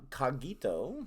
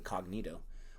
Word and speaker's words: Cogito: religious reaction video from Cogito. Pronounce it correctly this time. And I'm probably not pronouncing it correctly, but at least I'm not saying cognito or whatever I said.